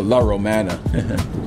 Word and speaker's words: La Romana: I mean, the La Romana. I say La Ramona, I pronounced it wrong.